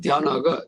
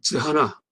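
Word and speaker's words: jhāna: 이 빨리어는 대하나가 저하나 라고 씁니다. 저하나. 그래서 빨리어는 저하나예요. 대하나가 아니고 발음 비슷하죠.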